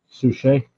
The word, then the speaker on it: Suchet: Oh, it was played by David Suchet. I think is how you say his last name. Suchet. Yeah.